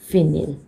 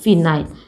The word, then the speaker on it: फिनाइल: तो इसको बोलते हैं फिनिल और फिनाइल, एज per your choice, और you know that pronunciation according to that one.